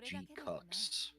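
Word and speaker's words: GQuuuuuuX: The one, the GQX? Yeah, I think that's the one that's happening in like a week or so. From what I understand, it is unfortunately supposed to be pronounced G-Cux.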